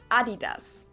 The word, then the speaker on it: Adidas: Now let's move on to something Adidas.